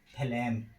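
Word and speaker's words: phlegm: तो जी का उच्चारण का पहला नियम, जब किसी वर्ड के अंत में जी एम आता है तो जी का उच्चारण नहीं किया जाता है। जैसे फ्लैम, फ्लैम माने कफ, पैराडाइम, पैराडाइम माने मिसाइल, एफिफ्राम माने उपसंहार।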